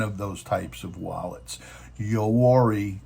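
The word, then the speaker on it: Yoroi: Yori is a soft wallet, or Yori, depending on how you want to pronounce it, is a soft wallet in Cardano.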